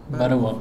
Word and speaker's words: Balowa: Et c'est un documentaire qui est produit par William, alors j'ai peur de mal prononcer le nom, Balowa, voilà, c'est la prononciation polonaise, et qui retrace en